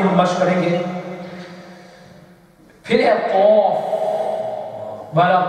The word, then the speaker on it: ق: Phir hai qaf. Wala qaf. Okay? From the root of the tongue. Peeche. Peeche se. Qaf.